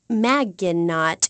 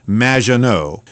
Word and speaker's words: Magginot: However, you have mispronounced my name. It's M, which rhymes with badge. Uh, as in duh, and no as in more than you. Majo.